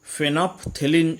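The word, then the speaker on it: phenolphthalein: Spelling इसका थोड़ा सा टफ है। फेनोप्थेलिन इसका उच्चारण है। इट is colourless in an acidic medium.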